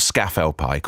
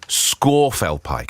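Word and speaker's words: Scafell Pike: it was actually justine green telling me it's pronounced it's not scaffold pike or scarfal pike it's actually scorpfel pike apparently that's the correct prince in a pronunciation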